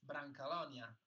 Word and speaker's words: Brancalonia: No, in Italian it's Brancalonia, but with the accent, of course, it's Brancalonia.